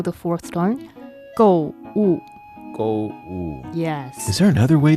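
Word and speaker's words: 购物: Go is the fourth tone. Wu is also the fourth tone. Go. Ooh. Go woo.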